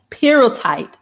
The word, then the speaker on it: pyrrhotite: I had to listen to the definition, the pronunciation of it. Let me see if we can hear it. Pyrrhotite.